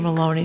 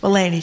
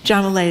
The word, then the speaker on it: Mulaney: Somebody just texted me about the John, I always mispronounce his name, is it Mulaney or Maloney, the comedian? Mulaney, thank you very much. John Mulaney, a very funny comedian,